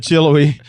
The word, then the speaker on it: Chilhowie: Chilhowie. Maybe that is how you say it. I've always just said Chillouee.